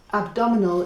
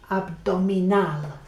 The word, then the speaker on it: abdominal: I've got this page from Language Learning Journal, so cognates ending in al, abdominal is abdominal, so la diferencia is where you land. It's abdominal, right?